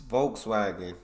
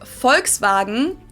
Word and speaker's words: Volkswagen: it would be pronounced Volkswagen at not Volkswagen so just imagine that it was spelled with an f and V instead Fox wagon this literally